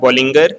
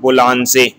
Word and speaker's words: Bollinger: It is not called Bollinger. In Bollinger it can be called in English, but in French it is called Boulanger. So again I am repeating, first is Boulanger.